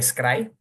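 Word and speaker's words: scri: representada con este simbolito que parece una J, pero creo que se pronuncia scry.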